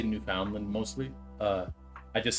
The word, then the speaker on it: Newfoundland: I still say Newf Foundland mostly. Uh, I just said Newfoundland right there to like try to conform, but it's spelled New Foundland.